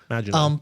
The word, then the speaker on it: Maginot: And she says, so that I don't end on that note, I want to mention the scene where, how do you pronounce Maginot line? Maginot.